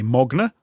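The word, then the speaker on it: Magne: appear to be norwegian his name is spelt magna m-a-g-n-e but they say mogner interesting okay well you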